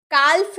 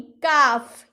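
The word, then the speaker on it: calf: हाफ यानी कि आधा काफ कालफ नहीं काफ यानी कि बछड़ा गाय का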